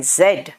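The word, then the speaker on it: Z: यवी डल एक्स वाई जड है ना जड बोलते हैं अमेरिकन जी बोलते हैं क्यों क्योंकि उसका साउंड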